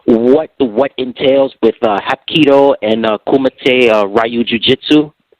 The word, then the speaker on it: Kumite: Is it pronounced Kumite, Ryu Ju-Jitsu?